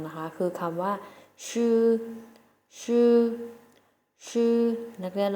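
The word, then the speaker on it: 吃: แรก ของ เรา นะ คะ คือ คำ ว่า ชื่อ ชื่อ ชื่อ นัก เรียน แล้ว ออก เสียง สิ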